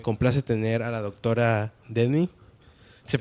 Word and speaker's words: Demmy: El día de hoy tenemos, me complace tener a la doctora Demi. Se pronuncia así, ¿verdad?